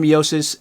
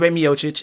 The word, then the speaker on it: Miocic: Garden Jon Jones versus Steven meiosis miocic I gotta say his name correctly versus Steve miocic it's official it's set